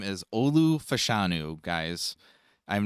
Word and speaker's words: Olu Fashanu: Yes, but we pronounce it as Olu Fashanu, the big tackle out of Penn State.